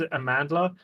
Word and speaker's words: Amandla: the same as the I believe it's a Zulu word so I sit there